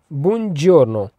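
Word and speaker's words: buongiorno: आगे नंबर दो पर बुन जोर्नो बुन जोर्नो इसको प्रोनाउंस कैसे करना है बन जोर्नो बन जोर्नो इसका मतलब है गुड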